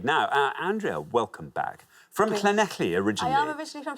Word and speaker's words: Llanelli: We've got Llanelli in a few times Well now.